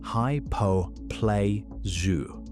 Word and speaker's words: hypoplasia: The technical term is enamel hyperplasia, pronounced hypoplasia.